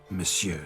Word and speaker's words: monsieur: Monsieur de Bourbeau. The emphasis falls on the last syllable.